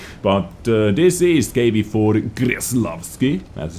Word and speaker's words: Kreslavskiy: but a5 radio but this is KB for increased love scale as I said this is how it needs to be pronounced at a rate special premium heavy tank